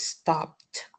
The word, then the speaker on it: stopped: So it's stopped. This word is surprise. It the r is silent.